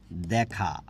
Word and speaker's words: দেখা: লিখলাম এ দিয়ে লিখেছি এটার উচ্চারণ কি দেখা দেখা না দেখা দেখা তাহলে কি দেখা হে পেহলি একটা গান আছে না দেখা যখন তখন হিন্দি হয়ে যাবে কিন্তু এটার উচ্চারণ হচ্ছে দেখা এই যে জ ফলা যখন দিয়েছি তখন কি হয়ে যাচ্ছে বিবৃত হয়ে যাচ্ছে ঠিক আছে তাহলে আর